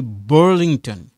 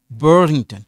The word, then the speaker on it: Burlington: So, Kevin est de Burlington. Burlington. So, you see this A, this one silent. We don't pronounce it. We only pronounce this A.